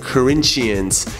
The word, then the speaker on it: Corinthians: I like to say it like the Brazilians say it, Corinthians.